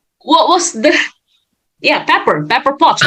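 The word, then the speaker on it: Pepper Potts: paper yeah with a paper what was that yeah pepper pepper pots right pepper pots yeah I'm sorry I just mispronounced it with paper gosh Tony could not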